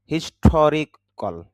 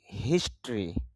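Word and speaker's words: history: হিস্ট্রি অর্থ হলো ইতিহাস। হিস্ট্রি, ইতিহাস। ট সাউন্ডটা চলে যাবে এখান থেকে।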